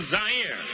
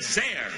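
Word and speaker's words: Zaire: Howard Kosell coming to you live from Zire. Some would pronounce it Z. They're wrong.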